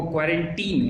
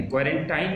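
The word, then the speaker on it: quarantine: तो यहाँ पे इसको करेक्ट जो है वो क्वारंटीन है, क्वारंटाइन नहीं है।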